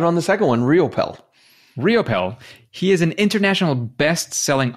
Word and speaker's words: Riopel: only because you said so so robert raymond ryappel riopel how do you pronounce that you got it on the second one realpel riopel he is an international best-selling author app designer